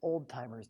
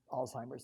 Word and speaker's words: Alzheimer's: has Alzheimer's disease but the way they're pronouncing it so fast I thought it was old-timers disease so anyway that was my introduction to Alzheimer's disease now Alzheimer's disease